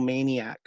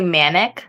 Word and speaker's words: Manic: Who gave you the nickname the Little Maniac? So it's actually Manic, not Maniac.